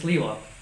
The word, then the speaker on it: Sliwa: And his name is spelled S-L-I-W-A, Sliwa. But some people call him Curtis Sliwa with an L. Right. Because there's two S's, so most people say his name wrong. Anyways, it's Curtis Sliwa.